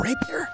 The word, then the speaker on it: rapier: here look at all these choices that are rapier yes that's how you pronounce it I am cutting you down goodbye